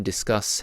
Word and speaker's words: discuss: So discus has the stressed syllable and then unstressed, and then discuss has unstressed and then stressed.